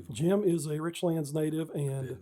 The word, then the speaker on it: Richlands: How do you properly pronounce is it rich lands or richlands?